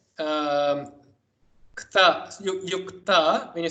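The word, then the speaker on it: युक्त: You say yukta, you don't say yutka, you don't say yutka. That is a different thing entirely.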